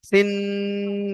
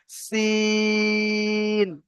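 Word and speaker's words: سين: তো এই অক্ষরটার নাম হলো সিন। এরও মাঝখানে টান হবে, শেষে টান হবে না। সিন, এমন ভাবে যদি বলি তো ভুল হবে। এর সঠিক উচ্চারণ হবে সিন। সি, টান দিয়ে দন্তের না গিয়ে থামবে, সিন।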